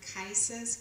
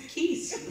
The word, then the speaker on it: Kice: It's Keys. It's Kice like rice.